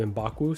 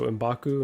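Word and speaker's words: M'Baku: two amendments here uh I always get embaku's name wrong I want to put a w in there all the time and call him in bakwu so imbaku and apologies to skillmonger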